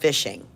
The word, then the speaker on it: phishing: of a scam is called fishing not to be confused with an actual fishing pole however it is a bait and sink you in reeling you in bait and sink um this so fishing is spelled with a ph and not an f just so you know